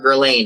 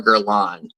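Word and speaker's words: Guerlain: definitely did not know that gerlan was not pronounced gain so it's not shalomar gerain it's shalomar Geron I'm one of those people that pronounces things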